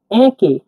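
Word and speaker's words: әке: উল্টা ই এটা এ এইচ এ এর মত উচ্চারণ হবে এ আমরা উদাহরণ দিচ্ছি একে একে একে মানে বাবা একে মানে বাবা তাহলে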